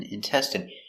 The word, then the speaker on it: intestine: we have intestine so remember the INE is pronounced in in intestine one intestine two intestines